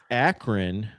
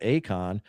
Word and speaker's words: Akron: Back to the 5-12, Texas Tech, Akron. Don't be confused with the small font and pronounce it Akon.